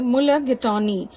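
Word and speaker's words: mulligatawny: और इसके बाद हम चलते हैं, ये है the Hindu word of द डे, और इसको प्रोनाउंसिएशन करेंगे मुलगिटॉनी।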